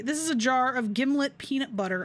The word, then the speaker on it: Gimlet: is a jar of gimlet peanut butter a brand primarily noted for arguments about how to pronounce it according to the manufactury it rhymes with himlet him okay that doesn't